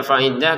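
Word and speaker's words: فعدة: Faiddatun dibaca faidah karena berhenti ya.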